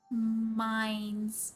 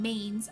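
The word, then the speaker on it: Mainz: And I hated that it was a village called Maines. Oh, like Maines? I think it's supposed to be pronounced in the Japanese like syllables.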